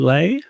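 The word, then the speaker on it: Ley: Susan Lei. Susan uh Lee, I think it's pronounced as.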